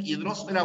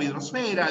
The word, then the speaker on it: hidrosfera: grave la tentación áspera también puede ser hidrósfera o hidrosfera litoso la litosfera yo